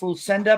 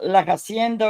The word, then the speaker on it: Lucinda: But people never knew how to pronounce Lucinda back then. They would call her La Hacienda or some other name.